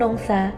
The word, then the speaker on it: Nongsa: Pengucapan Nong Isa kemudian disingkat ke Kampung Nongsa atau dari Kampung Nongsa.